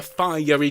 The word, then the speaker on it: fiery: bit there came a fiery chariot and don't forget three syllables in fiery three four there came